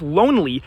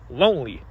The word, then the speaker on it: lonely: I pronounce lonely with a nasal vowel and lowly without one.